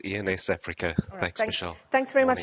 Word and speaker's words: ENSafrica: your firm's name correctly is it ens africa it is ians africa thanks michelle thanks very